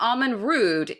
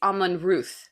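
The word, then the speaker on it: Amon Rûdh: hold on hold on isn't it in like Irish words that DH is a different pronunciation than yes I mean who says DH nobody right it's actually pronounced supposed to be pronounced th so not it's not Alan rude it's Alan Ruth but it honestly sounds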